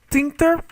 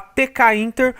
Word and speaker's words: tkinter: Então, from Thinter, certo? Aqui vai uma dica, apesar de estar escrito tkinter, né? Eu vejo muitas pessoas falar tkinter, mas a pronúncia correta é Thinter, ok?